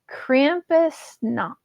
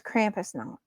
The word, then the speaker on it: Krampusnacht: disrespect, and I'm really, really sorry, but it's Krampusnacht. It's spelled Krampusnacht.